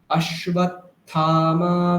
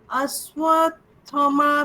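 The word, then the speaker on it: अश्वत्थामा: ভবান ভীষ্মশ্চ কর্ণশ্চ কৃপশ্চ সমিতিঞ্জয়ঃ অশ্বত্থামা বিকর্ণশ্চ সৌমদত্তিস্তথৈব চ। বলবো? হ্যাঁ। ভবান ভীমশ্চ কর্ণশ্চ ভীম নেই, ভীষ্ম, ভীম নেই, ভীষ্মশ্চ ভীষ্ম। কর্ণশ্চ কৃপশ্চ সমিতঞ্জয়ঃ অশ্বত্থমা বিকর্ণশ্চ সৌম অশ্বত্থামা, ওখানে থা দীর্ঘ, মা দীর্ঘ।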